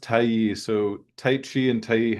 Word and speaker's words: Tai Yi: Yeah, it's it's pronounced Taii.